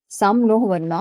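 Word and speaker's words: शं नो वरुणः: द एंबलम ऑफ the Indian navy contain the motto सम नोह वरुणा pronounced सम नो वरुणा which means B ऑस्ियस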